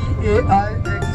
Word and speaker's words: Paix: P-A-I-X is pronounced Paix.